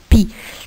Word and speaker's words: pie: Regardez avec moi, la pie qui est écrite, c'est un mot qui est écrit avec un E à la fin, mais le E ici n'est pas prononcé.